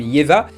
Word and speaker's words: Ieva: A noter qu'en finlandais, Eve se prononce quelque chose comme Jeva et que la chanson est censée s'appeler Jevan Polka.